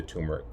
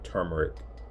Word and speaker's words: turmeric: and then of course the turmeric or turmeric, depending on how you want to say it. It's spelled with a R right after the U, so I know a lot of people say turmeric.